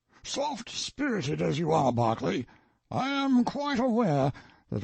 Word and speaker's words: Berkeley: banks sellers viscount berkeley of chalmundale castle warwickshire pronounced kakubri flanover marshbank sellers vikant barkley of chumley castle workshop he is standing by